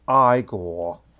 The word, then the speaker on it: Igor: name is pronounced Igor. Okay, let me just put on that.